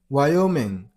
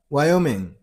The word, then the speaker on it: Wyoming: You got a stress on the middle syllable. I mean an O sound. Why? Wyoming. Wyoming. That's it.